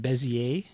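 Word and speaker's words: Bézier: And I looked up the pronunciation of Bezier, and the general consensus on the internet was to pronounce it Bezier, so I'm going to call this a Bezier curve.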